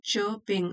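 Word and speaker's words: chirping: चह चाना लिखा है उसको बोलते हैं च पिंग आर साइलेंट है चॉपिंग एंड a gentle bridge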